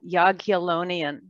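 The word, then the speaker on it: Jagiellonian: invited to teach at an ancient university called yaguilonian that's spelled j a g i e l l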